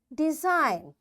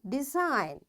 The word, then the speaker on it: design: G is silent when it comes before N. Its examples are design.